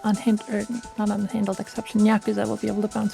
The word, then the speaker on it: Nyakuza: It is Nyakuza.